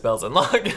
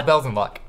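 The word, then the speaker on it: Belzenlok: I feel like now I'm saying it wrong, but I'm pretty sure it's Bells and Lock. Bells and Lock. I'm like almost positive.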